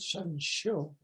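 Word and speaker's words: 神秀: Does Shen Xiu. That's the way you pronounce it. Shan Xiu. As in show, but it's Xiu. Shan Xiu.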